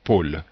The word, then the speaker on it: pôle: on dit bien mot ici on a un accent circonflexe donc qui fait que ce ha est fermé pôle c'est le pôle comme